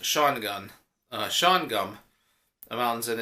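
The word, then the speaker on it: Shawangunk: they've been given intel that 3 Autobots are operating the area of the Shawngum Mountains, and it's like SHAWOUNGUNK, but it's pronounced Shawgun.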